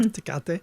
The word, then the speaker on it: Tecate: Tecate?